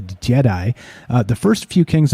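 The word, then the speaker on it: Djedi: and the magicians yep d-j-e-d-i pronounced a jedi uh the first few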